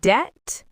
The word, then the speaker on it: debt: Same with debt. The B is silent.